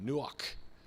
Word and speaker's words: Nuach: next to you because you're almost spitting out that k sound at the end you know almost like clearing the throat but here is this